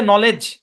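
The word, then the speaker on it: knowledge: এই শব্দের উচ্চারণ হচ্ছে নলেজ। এখানে কে সাইলেন্ট। যখন সাইলেন্ট কে এর অংশে যাবেন তখন বুঝতে পারবেন যে কে সাইলেন্ট। আর এখানে ডি সাইলেন্ট। হ্যাঁ, নলেজ, এবার আবার ভাগ হবে, নলেজ। এখানে ইও সাইলেন্ট।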